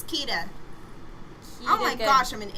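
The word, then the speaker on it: Kida: Yeah, it's Princess Kaida. Kaida. Oh, Kita. Kita. It's Kita.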